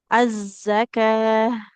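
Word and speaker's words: الزكاة: Sama ini, tak yang bulat atau tak marbutoh. Ketika kita waqaf, maka jadi huruf H. Ya, seperti itu. Az-zakah.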